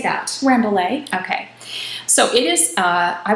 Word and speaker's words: Rambouillet: Rambouillet.